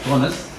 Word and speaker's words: Bownas: And it is my pleasure to introduce today's speaker, Professor Richard Bownas. It's pronounced as Bownas.